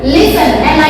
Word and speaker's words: listen: Listen, LISTEN, listen, listen, listen, okay।